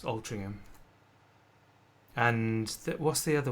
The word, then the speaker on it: Altrincham: got uh up here we've got altringham which is actually altrincham but it's pronounced as altering him and that what's the